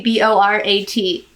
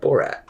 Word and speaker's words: Borat: How do you pronounce the movie B-O-R-A-T? B-O-R, Borat.